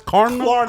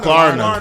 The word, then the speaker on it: Klarna: How do you pronounce Klarna? Klarna.